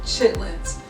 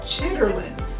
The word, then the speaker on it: chitterlings: out sorry I'm from the south so I pronounce it chitlins some of some of you guys may have heard it called chitterlings but I love these I was raised on